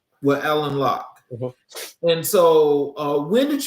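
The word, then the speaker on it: Alain Locke: Is it Elaine Lock? Um, it's spelled that way, but it's Alan Lock. Well, Alan Lock.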